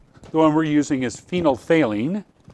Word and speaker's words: phenolphthalein: one we're using as phenolphthalein it's my favourite NIT word because it's good the second pH is silent phenolphthalein okay and in acid